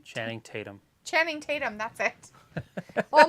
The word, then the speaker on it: Channing Tatum: called Dog was pretty good with uh yeah tanning Tatum Chatham tanning however you say his name Channing Tatum Channing Tatum that's it oh my God nothing